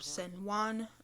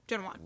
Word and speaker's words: Zhen Huan: We are going to be doing Empresses in a Palace: The Legend of San Juan. Excuse me, Shenuan. Shenuan. Genuan. Genuan. Genuan. There we go. Got to get that pronunciation game.